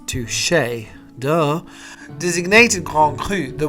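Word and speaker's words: touché: Touche. It's pronounced touche.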